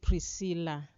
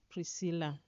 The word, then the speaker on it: Priscilla: We when we pronounce it, we call it Priscilla. Priscilla.